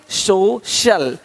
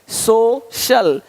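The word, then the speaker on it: social: सकता है अब देखो यदि सी के आगे आई ए हो तो सी का उच्चारण श होता है क्या होता है श होता है क्या लिखा हमने सोशल सोशल सोशल तो यहां पे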